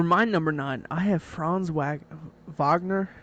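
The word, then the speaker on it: Franz Wagner: number nine I have fron wag Vagner however you want to pronounce it yeah I have fron it's fron vogner yep I have fron he is pretty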